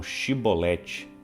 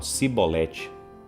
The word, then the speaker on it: chibolete: Então os gileaditas falavam chibolete, mas os da tribo de Efraim não conseguia pronunciar o então eles falavam cibolete.